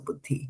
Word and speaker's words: buddhi: So, the D with just a H is da as in dhanosh, right? So, there's a da over here, right? Some similarly there's a dha over here. So, buddhi very good.